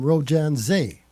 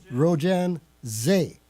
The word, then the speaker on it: Rojan Zay: I write under the name Rojan Zay. Did you get that, Bill? Okay. Rojan Zay. Rhymes with cabaret.